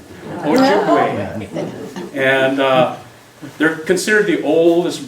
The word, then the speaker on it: Ojibwe: Well, it's mispronounced. It's Ojibwe. Ojibwe.